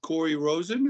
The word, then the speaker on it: Cory Rosen: But yeah, so I'm here today on OSH Radio with Cory Rosen. Is that how you pronounce it?